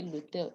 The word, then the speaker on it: l'hôtel: Elision is removing the E. We now, instead of saying, instead of doing le hôtel, we do this, we put an apostrophe and we pronounce the two together. We say l'hôtel, elision, contraction. Un hôtel, that is liaison.